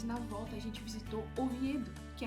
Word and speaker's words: Oviedo: Oviedo, eu vou colocar o nome certo aqui que eu pronunciei errado. Oviedo.